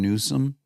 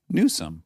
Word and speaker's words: Newsom: Gavin Newsom? Sure. How do you say his last name? Newsom. Yeah. Okay, there's no N deep in there, Newsom or anything.